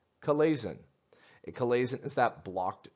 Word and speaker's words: chalazion: This is pronounced chalazion.